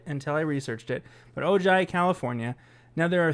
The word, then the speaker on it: Ojai: It's either Ojai or Ojai, California. It's Ojai. If you're from there and you listen, I apologize. I've never even heard of it until I researched it. But Ojai, California.